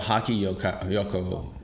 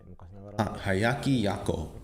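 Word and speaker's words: Hyakki Yagyō: There's this Japanese picture scroll called Haki Yoko, which depicts the scenes of a lot of yokai. Hayaki Yako. Okay, I butchered that originally, sorry.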